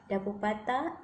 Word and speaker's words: Dapur Pantai: Dapur Patah is the way Dapur Pantai or beach kitchen is pronounced in the local lingo.